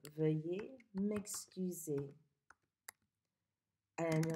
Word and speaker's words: veuille: Veuille. What word does that rhyme with? Veuille, like feuille. You learned how to say feuille by now. So veuille, feuille.